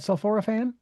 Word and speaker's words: sulforaphane: That's how they pronounce that, sulforaphane.